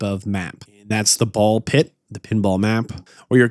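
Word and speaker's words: Ball x Pit: apparently not pronounced ballax pit or bulks pit. It's a ball pit. Two complete separate words with a random X in between for reasons I do not know.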